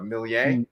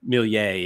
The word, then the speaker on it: Méliès: I can never pronounce the director's name correctly though. Méliès. Méliès, yeah.